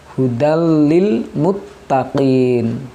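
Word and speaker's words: هُدًى لِّلْمُتَّقِينَ: adalah huruf idgam bilagunnah jadi membacanya harus jelas hudallilmuttaqin tanpa menahan huruf lam nya Huda Ulil mutta print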